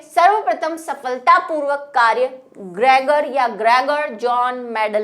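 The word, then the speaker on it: Johann: Normally हम बोलते जॉन ही है, जॉन की स्पेलिंग में भी ह एच होता है, लेकिन बोलते हम जॉन है, लेकिन वही हिंदी ट्रांसलेशन का थोड़ा सा प्रॉब्लम, ठीक है।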